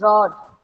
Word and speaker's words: rod: Heat the It is not road, it is rod.